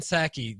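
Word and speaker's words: Psaki: stimulus package sabong says gen saki the p is silent just like the p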